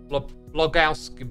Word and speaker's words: Blogowski: It's an old blogging name. Think Big Lebowski. It's Blogowski. Blogowski.